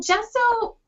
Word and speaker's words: gesso: is gesso is that did that did i pronounce it right yes and how is it different from knowledgebot um well gesso and this is just my like my opinion